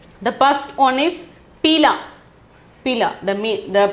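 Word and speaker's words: पीला: Pila. The pronunciation is pila.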